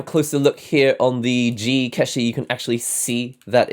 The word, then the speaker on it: ZI KESHI: It's called the zi-keshi, or probably in Japanese it's pronounced as the zi-keshi.